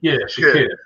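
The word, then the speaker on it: Shaqir: Derek, you remember how his name is pronounced? Shakir.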